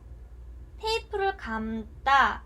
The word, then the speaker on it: 감다: 자, 테이프를 감다 라고 얘기를 했을 때 우리가 이때 감을 길게 발음합니다.